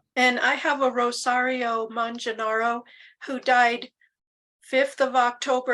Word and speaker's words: Manganaro: Italian would be more like manga rather, Manganaro.